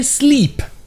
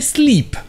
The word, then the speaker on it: sleep: Comme par exemple les deux verbes, slep et sleep.